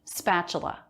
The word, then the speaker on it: spatula: hands apron scissors spatula notice the letter t here makes a ch sound i think a lot of people would probably misspell this word putting in a ch spatula cooking working making preparing